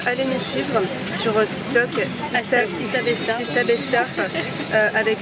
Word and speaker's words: Sista Besta: Mais allez nous suivre sur TikTok, Sista Besta avec 2 A. Sista, S-I-S-T-A-A, Besta. Comme ça s'écrit, comme ça se prononce.